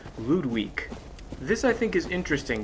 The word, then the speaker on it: Ludwig: emphasizing the sound in loot week as opposed to pronouncing the character's name as Ludwig because it's closer to the Japanese used to display the name in the original the pronunciation would be